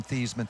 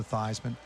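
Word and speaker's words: Theismann: both here today because he's really the one who changed the pronunciation of my last name from thiesman to theisman it was rogers genius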